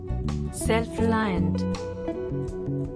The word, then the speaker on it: self-reliant: word self-reliant. The pronunciation is very easy. 4 syllables, and the emphasis on first syllable.